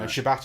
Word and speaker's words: Shabbat: of Shabbat you know Shabbat is kind of the way that you would read it off a piece of paper but if you're if you're Jewish then you kind of you learn to pronounce it Shabbos that's where everyone says